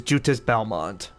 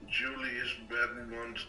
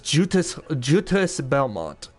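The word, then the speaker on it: Juste Belmont: Julius Belmont. Actually, it's Jutis. It's pronounced... Belmont. It's Jutis Belmont. It's a French... It has that French name.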